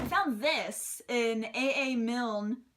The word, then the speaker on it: Milne: this in a a Milne pronounced Milne like the original Winnie the Pooh this is a pop-up